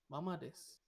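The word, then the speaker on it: まあまあ: Yes, it's not mama, not your mom or anything. No mom, mommy, daddy, no. When the alphabet A is put up with a tone, flat tone, Mm. means it's a double A.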